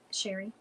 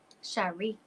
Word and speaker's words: Cherie: He's showing me more of a small town feel to Her name is pronounced Sherry. Cherie.